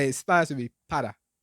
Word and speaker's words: para: You would say para, but in Spanish it would be para. So imagine that the R was a D, but it's not quite a D.